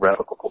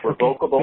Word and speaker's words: revocable: And then finally, I've become over the years a great proponent of revocable trusts. And a trust, of what? Say it. Trust. Revocable, okay. revocable or revocable trust, both pronunciations is fine.